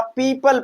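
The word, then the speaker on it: people: पी ई ओ पी एल ई। तो इसे हम क्या पढ़ेंगे? ओ को प्रोनंसिएट नहीं करेंगे। यहां पर हम क्या करेंगे भैया? पीपल पढ़ेंगे।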